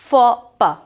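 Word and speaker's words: faux pas: The pronunciation of the word is फॉपा, ठीक है, फॉपा इसका प्रोनाउंसिएशन है।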